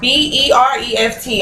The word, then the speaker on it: bereft: It's bereaved, or BEREFT. I don't know if I'm pronouncing it right or not.